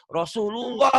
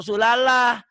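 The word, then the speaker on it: Rasulullah: menjadi thapki menjadi tebel Rosulullah bukan rosulallah al-manshuroh bukan al-baqarah ah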